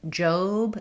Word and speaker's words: Job: In job, it looks like the word job that has the A sound, but for the name, it has the O.